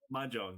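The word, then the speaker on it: mahjong: Majong.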